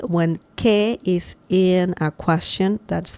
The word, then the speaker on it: qué: Sometimes it doesn't need it when it's not in a question, and the pronunciation is the same. So don't worry about any difference. Que is que, with or without an accent mark.